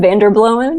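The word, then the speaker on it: Vanderbloemen: make sure I say his name right William Van der blowin ya very good and Warren bird and Baker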